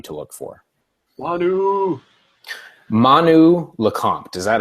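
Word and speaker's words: Lecomte: told me it was lant like like the it's it's spelled l e c o m te but he said it was like the M was like pronounced like an N so me on that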